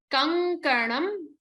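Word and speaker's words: कङ्कणम्: Krita, kankanam. Again, remember the na from mani in the previous shlokam.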